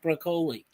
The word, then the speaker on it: Broccoli: uh Drew uh but some people say you should pronounce it Italian like broccoli and Drew is talking about broccoli next generation.